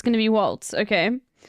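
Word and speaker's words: Walz: it's going to be Waltz okay it's pronounced like walls I don't give a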